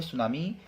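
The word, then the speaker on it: tsunami: आपका ये जो है सुनामी कहा जाता है इसमें टी जो है वर्ड साइलेंट होता है चलिए नेक्स्ट क्वेश्चन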